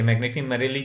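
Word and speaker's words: Magneti Marelli: कर रहे थे कि मैग्नेटिक मरेली जो है वो सही प्रोनाउंसिएशन है मैग्नेटिक मरेली, ठीक है, वैसे भी इटालियन हम कर नहीं सकते।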